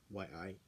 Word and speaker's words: yi: Second, we have the quality of the heart mind, which is shame, or E, Y-I, E. It can be pronounced Yi or just E.